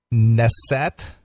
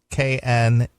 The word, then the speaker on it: Knesset: A former Israeli minister and a member of the Knesset, K-N-E-S-S-E-T. Okay. How do you say that? I don't. Knesset? Knesset, I guess. I guess the K is silent.